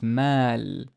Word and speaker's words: مال: But there's an alif, and this alif is basically kind of telling it away. As in this meme has a fatha and it's a long vowel. It's mal, mal, mal.